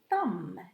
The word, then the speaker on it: thumb: b if i say the word the thumb it's a silent b let's have a look